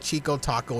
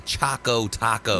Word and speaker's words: Choco Taco: am i again yes it's not a chico taco it's a choco taco man i spoke because it's like chocolate it's a chocolate taco i am spoken well